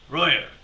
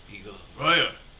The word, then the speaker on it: Roger: do they ask you you will say royer that is how i pronounce my the roger's name roya how are you how